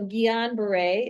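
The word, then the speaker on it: Guillain-Barré: I I don't speak French very well, but it is a French like it's after a French I think physician. And so Gillan Beret is how you say this is, you know, if if you're close, people will know.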